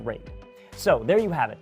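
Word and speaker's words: RAID: all those letters and yes I know it's pronounced rate so there you have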